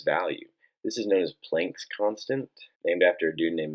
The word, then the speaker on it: Planck: this is known as Planck's constant named after dude named Max Max Planck sometimes pronounced plunk I helped discover these